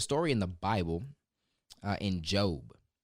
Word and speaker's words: Job: In Job. It's actually spelled like Job, J-O-B, if you want to go read it.